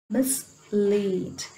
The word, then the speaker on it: mislead: Okay, look at this one, mislead. Here miss, it has a small vowel sound, but lead is a long vowel sound, so we stress lead.